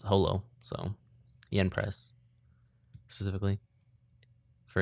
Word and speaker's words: Holo: And I mean, his name is it's the same with Spice and Wolf, where in Japanese it's Horo, but the localizers were specifically told that it was Holo, so Yen Press specifically for English.